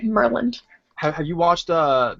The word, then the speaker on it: Maryland: You know, I made a video and I called it Mryland. Yeah. People always like pronounce the Y. It's just Mer like Merland.